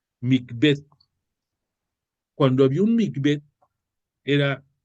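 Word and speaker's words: מקווה: estos actos de ición se pronuncia micb es m i q v e H micb cuando había un mbet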